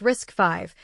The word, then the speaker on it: RISC-V: The main long-term competitor is something called RISC-V, pronounced risk five, which is a free, open-source alternative to Arm's instruction set.